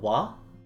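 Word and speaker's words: は: here what it is the particle wah which is actually if you remember from the katakana lesson in the hiragana lesson from last week this character it is typically pronounced ha like if we were to talk about say the term like a popular vocaloid hatsune miku that's the character that we use but this is a specific case here that whenever we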